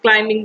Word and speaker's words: climbing: these sentences that is climbing the mountains of here in climbing where the bee is silent he wrapped the wrist